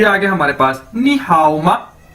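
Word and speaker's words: 你好吗: ये देखें, ये आगे हमारे पास नी हाओ मा, नी हाओ मा, नी हाओ मा, ये इसकी प्रोनाउंसिएशन है, यानी इसको कैसे बोलना है नी हाओ मा।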